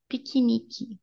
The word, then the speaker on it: piquenique: All of this sounds like E. All of them. I know this is an exception to the rule. If it's in the middle, don't pronounce like E, but this is a unique word, okay? Even writing it is so weird. But anyways, piquenique. That's how you pronounce picnic in Portuguese.